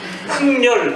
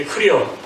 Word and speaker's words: 흥렬: 흥렬 이걸 발음할 수 있는 사람은 없어요. 한국 사람에 맨날 발음하는 게 흐려. 흐려. 뭐 흐려 뭐 아유 그리고는 안 해요.